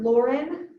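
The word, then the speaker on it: Loren: helps press in to lift up so dr lauren fishman l-o-r-e-n i believe lauren fishman spelled like a compound word fish and man the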